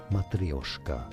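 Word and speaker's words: matryoshka: names so for reference in Russian this is said as matrioska don't it's not silent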